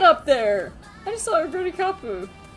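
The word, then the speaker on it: Oguri Cap: I just saw Oguri Kapu. I know it's Oguri Cup in English, but it's Oguri Kapu in Japanese, and that's...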